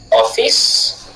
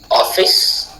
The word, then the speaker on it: office: Nous le retrouvons dans les mots comme office office office off accentué fils non accentué par exemple office office. Petite parenthèse on dit pas office office.